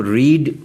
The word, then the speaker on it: read: यहाँ पर जो दूसरी और तीसरी फॉर्म है इसके स्पेलिंग पहली फॉर्म जैसे ही हैं, READ, लेकिन पहली फॉर्म को रीड पढ़ा जाता है और दूसरी और तीसरी फॉर्म को रेड।